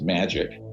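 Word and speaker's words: MAJIC: the majority intelligence committee m ajic is pronounced magic ironically or not ironically and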